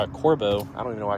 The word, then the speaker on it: Corbeau: So, we're going to move on to the Corbo Corbo. I don't even know why I keep pronouncing that wrong.